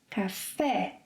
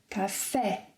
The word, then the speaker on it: café: For example 'café' - open sound - É - 'café' 'português' – closed – 'português' Well, and if there are no written accents?